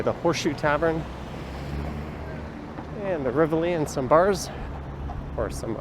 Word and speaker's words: Rivoli: Apparently it's officially pronounced the Rivoli, or at least that's the Italian pronunciation, but everyone I've ever known calls it the Riv or the Rivoli.